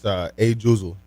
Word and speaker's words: Ajuzel: Hey, how do you say I don't know how to pronounce your name. It's Ajuzel.